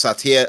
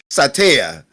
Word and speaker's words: Satya: Satya how do you say it again it's Satya how do you say it in the Hispanic version sataya King sataya yes um yeah like I said